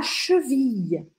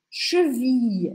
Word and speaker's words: cheville: O tornozelo é la cheville. Cheville. Esse I2LZ, a gente pronuncia assim, I. La cheville.